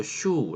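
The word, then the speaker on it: 朱: 슈 인 짝 뭐 붉을 주자가 일본 발음으로 슈우 라고 발음이 새는 것 같아요 그래서 붉은 도장이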